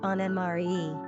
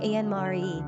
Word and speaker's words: Annemarie: As a female given name by itself, Annemarie was mainly a coinage by the Dutch and Germans, pronounced ahn-nə-mah-REE. The English typically say ahn-nə-mah-REE, which emphasizes the two distinctly different names they are.